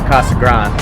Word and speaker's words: Casa Grande: stick it on day but everybody down here calls it Kasa Grand so I'm just going to go with what the locals say um but we're at